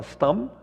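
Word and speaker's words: Stam: E não se fala Stem, é um A, mas assim a pronunciação assim é Clarence Stem.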